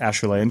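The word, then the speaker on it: Acheulean: axes you might have SE heard about the Ashan hand ax which is spelled a h euu l a n but it's pronounced asan because it was pronounced in it was found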